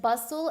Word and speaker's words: bustle: Hustle and bustle, again, there is a silent T in hustle and a silent T in bustle. So this is a city